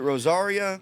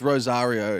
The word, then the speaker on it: Rozario: Is it Rosario? It's Rozario. yeah.